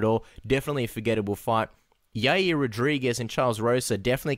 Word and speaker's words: Yair: But Yair, that's how you pronounce his first name, Cass?